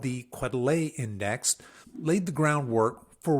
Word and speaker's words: Quetelet: I think his last name is Quetelet is how you say it.